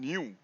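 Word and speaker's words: ν: the velocity V by actually is pronounced as mu and nu okay so it's different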